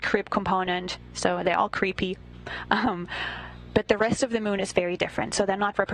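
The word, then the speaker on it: KREEP: They have a weird component that we call creep and it's spelled K R E E P and stands for potassium, rare earth elements and phosphor.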